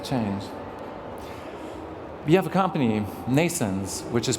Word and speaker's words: NNAISENSE: is going to change we have a company Nason's which is pronounced like nasons birth in english but spelled